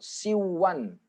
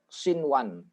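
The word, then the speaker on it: صنوان: ini ketemu dengan Wow tapi yang ini tidak boleh bacanya Siwon Siwon ndak boleh tetep sinwan aslinya seperti ini udah dari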